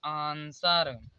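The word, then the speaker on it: answer: W silent देखते हैं तो यस के बाद यदि डब्लू आता है तो डब्लू साइलेंट होता है। जैसे देखिए यस के बाद डब्लू आया यहाँ पर, तो यहाँ पर डब्लू कॉमन हो साइलेंट हो जाएगा, तो इसे पढ़ा जाएगा आंसर।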